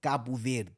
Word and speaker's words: Cabo Verde: I'm never saying Cape Verde in my life. Yeah, Cabo Verde. Yeah, Cabo Verde. Yeah, that's how you say it.